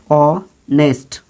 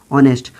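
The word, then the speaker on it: honest: वो स्वर वर्ण है, यानी इसका प्रोनाउंसिएशन ओ से स्टार्ट होता है, तो इसलिए आप यहाँ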